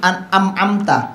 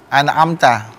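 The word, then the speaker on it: أنعمت: Terus tadi amta. Iya, Amta. itu Iya, idhar. An'amta. An'am. Jelas. An'amta. Bukan amta. An'amta.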